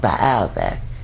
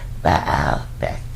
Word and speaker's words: Baalbek: They were also launched from Lebanon in the north at a place called Baalbek. Baalbek. Some people pronounce it different ways. B-A-A-L-E-K. Baalbek.